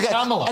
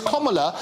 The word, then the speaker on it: Kamala: Everybody Kamala. No, it's Kamala, and she spent an absolute fortune in 2016, including getting lots of high school kids out to tell everybody how to pronounce her name. It's obviously completely wasted money, but it's Kamala, as in the punctuation, as in stop Joe Biden.